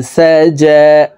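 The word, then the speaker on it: سَجَىٰ: ইযা সাজা, জিমের উপরে খাড়া জবর আছে, তাই এই জিম হরফকে এক আলিফ টেনে পড়ব। ইযা সাজা ওয়াল-লাইলি ইযা সাজা ওয়াল-লাইলি ইযা সাজা মা ওয়াদ্দাআকা মা ওয়াদ্দাআকা রব্বুকা।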